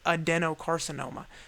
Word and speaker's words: adenocarcinoma: a demo carcinoma or adenocarcinoma but it pronounced it adenocarcinoma so it sounds like a Denny's and I think of